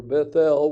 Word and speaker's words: Bethel: And they journeyed from Bethel, or Bethel. We're going to pronounce that L, E-L.